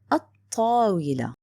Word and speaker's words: الطاولة: Next one الطاولة. This is لام شمسية written and not pronounced.